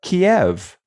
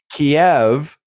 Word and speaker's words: Kiev: Kiev derived from the Russian language and Keev derived from the Ukrainian language.